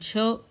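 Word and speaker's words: chöd: So your main cho practice needs to be in the mainstream channel ground and cho it's sometimes even pronounced as ch h o d.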